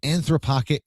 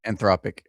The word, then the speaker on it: Anthropic: And uh a guy just used anthropoc or anth I can't pronounce that. Anthropic AI. Anthropic. There you go.